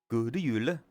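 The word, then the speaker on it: God Jul: Good Yule. Literally sounding like the Swedish chef. I can't help that. Might just be my dialect, but I don't pronounce the D.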